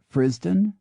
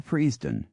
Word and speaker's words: Frithsden: pronunciations, Frithsden or Friesden, Hertfordshire, which can be pronounced Frisden or Freesden.